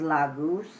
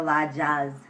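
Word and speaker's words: Laguz: are the next one is la goose trying to make sure i'm showing it to you the correct direction or la jazz depending on how you choose to pronounce it uh ruins have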